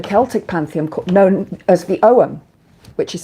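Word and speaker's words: Ogham: Uh, and we have our own symbols here in the Celtic pantheon known as the Owen, which is spelled O G H A M O, but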